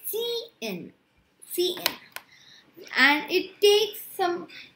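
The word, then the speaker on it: cin: operator and in cn you pronounce it as c in cn and it takes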